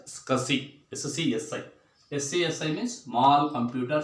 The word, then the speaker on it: SCSI: You have to pronounce it as SCSI.